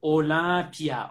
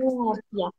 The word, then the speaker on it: Olympia: We only pronounce one syllable, pia.